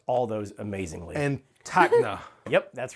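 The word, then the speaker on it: Tacna: You pronounced all those amazingly. And Takna.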